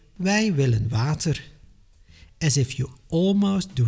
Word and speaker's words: wij willen water: I hear people from Wallonia say wij willen water. It is like you hear how they suffer with this sound, but it is not necessary. Keep it modest and easy.